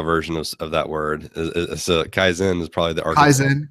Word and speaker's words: Kaizen: This is go back to the Kaizen, if I'm pronouncing it right, concept. I have the Arkansas version of that word. So Kaizen is probably the Arkansas. Kaizen. Pronunciation Kaizen.